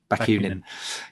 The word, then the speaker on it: Bakunin: How do you pronounce that? Bakunin.